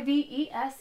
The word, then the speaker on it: Yves: name is Eve that's why ves Eve the S is silent if you enjoyed what you